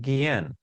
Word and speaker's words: Guillén: I know it's still hard for some people to pronounce, but it's a beautiful name, Gui-en.